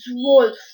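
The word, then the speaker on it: zwölf: l f l 12 well is said as wolf wolf z w o um loud lf rules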